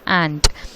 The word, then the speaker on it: aunt: We have to pronounce U is silent, so you have to pronounce as what? Ant.